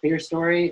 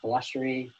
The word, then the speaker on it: clerestory: So one of them is the clerestory or clerestory, either pronunciation is fine.